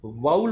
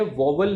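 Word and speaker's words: vowel: तो उसकी pronunciation वाउल होती है, वॉवल नहीं होती।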